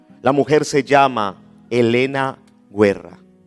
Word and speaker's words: Guerra: mujer se llama Elena guerra guerra se escribe en italiano se pronuncia Guerra y esta mujer fue